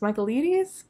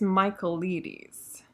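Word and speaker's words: Michaelides: the maidens by alex mccabe michaelia michael leedy's michael ladies i feel like i i learned how to pronounce it after putting this on my tbr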